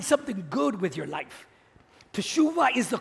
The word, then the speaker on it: Teshuvah: Now in Hebrew, the language of Jesus, the word repentance is pronounced Teshuvah.